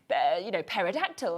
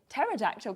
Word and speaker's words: pterodactyl: Because he'll be like, pterodactyl, and I'll be like, pterodactyl, because you've not got the, and there's all these different ones that got these, so that's me there.